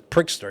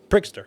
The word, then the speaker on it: Pritzker: It sounds like it's his Pritzker. Yeah, Pritzker.